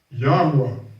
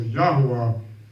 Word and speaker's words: Yahweh: those 4 letters, so when they put the vowel points in place, will help you pronounce what the actual name was. So Yahweh is the name of